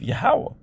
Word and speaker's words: Yahweh: uh wah wah okay that's that's the pronunciation of the name of yahweh all right all right and as you can